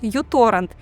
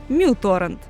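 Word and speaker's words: µTorrent: Это 25-летний гражданин Швеции Людвиг Стригиус, и именно он в одиночку создал всеми известный зеленый торрент-клиент uTorrent, или, как оказалось правильно говорить, muTorrent.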